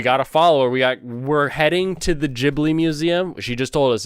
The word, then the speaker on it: Ghibli: to the to the museum so it is pronounced ghibli and i learned that from an actual spirit